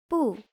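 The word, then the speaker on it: 不: Bù means no, not. It normally sounds falling, but before a falling sound word, it becomes rising. For example, bú shì is not.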